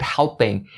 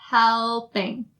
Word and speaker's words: helping: even have the outside you have to make sure that you roll your tongue to make that else out a little clear and when you say it is going to make more sense to the ears of native speakers helping making that sound